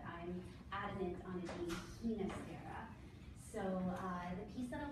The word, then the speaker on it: Ginastera: I'm a believer of Himacera, the Argentinian pronunciation, but other scholars will argue with me, but I'm adamant on it being Himacera.